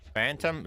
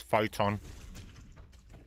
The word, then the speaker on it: Photon: Phantom Phantom's not an animal mod. They they they just said it wrong. It's photon.